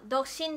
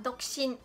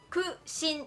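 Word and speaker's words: 独身: 特别的念独身这样子，他这个哭呢就只是一个气音，他不会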